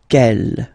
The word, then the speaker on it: quelle: Quelle, masculine form here, will be pronounced exactly as the feminine form here. Quelle. So only one sound, okay?